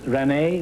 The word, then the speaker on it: Rene: John Charles Thomas, we found out about your history last week, so let's find out something about Miss Rene. Is that the way you pronounce it?